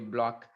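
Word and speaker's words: Bloch: happen now the block equation okay people are pronouncing it I think not blot I was using blot in my recording but it looks like it should be a block okay I'll from now on call it as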